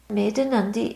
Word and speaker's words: Medhanandi: means venerable lady and maandi is pronounced made a n with a d at the end literally it means the